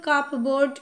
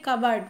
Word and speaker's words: cupboard: দেখো এখানে উচ্চারণটা কিন্তু কাপ বোর্ড এরকম আছে, CUPBOARD, কিন্তু এটার উচ্চারণ হবে কাবার্ড, মানে হচ্ছে আলমারি বা আলমিরা।